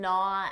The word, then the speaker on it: gnaw: it number five to not at this means to trouble worry or annoy someone first of all notice that silent g n n it starts with a N an n Sound not to not for example his text